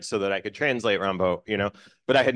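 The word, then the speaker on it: Rimbaud: and I was like my favorite is AR Arthur Rod you know and uh and my teacher was like oh sweetheart it's pronounced Rambo you know and I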